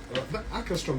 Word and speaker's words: Åkerström: Åkerström, that's your husband's name. Yeah, Åkerström. Yeah. How do you pronounce it, Ejo?